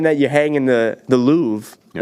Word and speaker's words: Louvre: you hang in the Louvre. Yeah. Is that how it's pronounced? The Lou, I believe. Is it actually? It's Lou. spelt Louvre. Yeah, but I think it's like L-O-O.